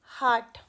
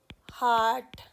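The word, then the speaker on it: heart: अब कुछ common mistake जो हम करते हैं, जैसे मैंने बताया था आपको, हार्ट, इसकी प्रोनाउंसिएशन होती है हार्ट, लेकिन हम नॉर्मली क्या बोलते हैं, हर्ट, हर्ट।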